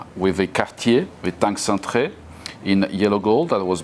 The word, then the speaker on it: Cintrée: Actually, how do you pronounce it? Maybe I'm getting it wrong. Cintrée. Cintrée. So we're going to start with the Cartier Cintrée.